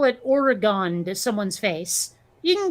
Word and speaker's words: Oregon: uh they pronounce it oregon yeah and i i and i can make an argument for either pronunciation you know like like dragon versus polygon you know those all